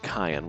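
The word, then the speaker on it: Cyan: let everybody know it's pronounced cayenne with a hard c get over it uh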